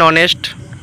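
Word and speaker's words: honest: এন বসে যেমন এ hotel A horse an অনেস্ট সংক্ষিপ্ত সংক্ষিপ্ত শব্দের প্রথম অক্ষর ভাওয়েলের মত উচ্চারিত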